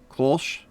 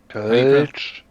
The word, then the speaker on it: Kölsch: See, there's a Pilsner, a lager, and Lord of Steel, how do you pronounce this word? Kolsch? Help me. Kölsch.